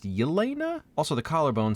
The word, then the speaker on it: Yelena: And those two are Natasha, and Google Translate says it's Helena, but it sounds like it's pronounced Yelena.